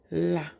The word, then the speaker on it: hola: This word is pronounced as la. The h is silent. The h is never pronounced.